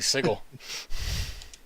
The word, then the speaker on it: Sigil: sigil just so bad hard g sigel like gif yeah no uh uh